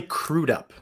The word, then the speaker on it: Billy Crudup: really happened by the way it is billy crudup crudup thank you thank you i apologize for the mispronounced it's funny because i i only know